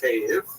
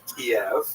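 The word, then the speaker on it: Kyiv: they centered around the city of Cave. That's the Ukrainian pronunciation, by the way. It's favored today because of course Ukrainian is the dominant language in the country. But it used to be called Kiev, which is closer to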